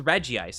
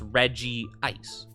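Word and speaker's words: Regice: said Reggie ice because that's how they pronounced it in like the movies in the anime yeah I go with Reggie ice I I don't get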